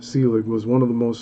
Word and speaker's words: Selig: William Nicholas Celig pronounced Celig was one of the most successful and colorful motion picture pioneers of the 1890s and early 1900s.